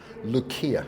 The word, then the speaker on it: Lucia: Lucia. It's like Lucy.